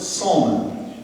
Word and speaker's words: Solomon: city's other founder solomon solomon pronounced salman his dad was the